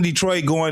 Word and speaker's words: Detroit: We got them in Detroit. You got to understand, Detroit is actually pronounced Detroit. Detroit. It's a French thing.